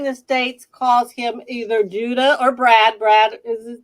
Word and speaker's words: Judda: It's that's the name that I've taken in America, but it's actually pronounced Judda. So that's why I'm just calling him Judda, like Star Wars.